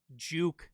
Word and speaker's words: Juke: team BDS team is Nico Juke is how it's pronounced and Mitzer. So, just wanted that on the record that it is Juke and not, you know, anything else. It's GI K, which is Juke.